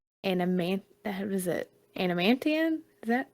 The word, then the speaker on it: adamantium: say that right an A man is it adamantium is that how you say it adamantium yeah that armor um she has a blade